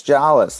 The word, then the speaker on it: Jolles: Well, for years I was like, it's jawless, like jaw. Just say jawless, and they always get it wrong.